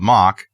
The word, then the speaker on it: Moq: uh the title of this show is to mock or not to mock moq so a popular open source project called mock it's pronoun it's pronounced m-o-c-k but it's moq criticized for quietly